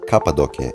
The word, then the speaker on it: Cappadocia: going to cappadocia or cappadocia if you're in turkey you should pronounce it this way cappadocia is a historical